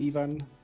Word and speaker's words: Ivan: So, hi, Ivan. Do I pronounce that correctly? In Croatia, we say Ivan, but thank you for the GGs.